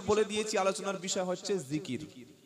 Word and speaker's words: জিকির: উপরে, বিষয়টা হচ্ছে আল্লাহর জিকির। কি নাম বললাম? জিকির। জাল, কাফ, র, তিনটি অক্ষরে একটা শব্দ জিকির। বাংলায় থেকে হলে হবে অন্ত্যেজ্য হস্যই, কয়হাস্যই, র, জিকির। এটা বাংলায় আরবির উচ্চারণ, আর অর্থ হলো আল্লাহর স্মরণ।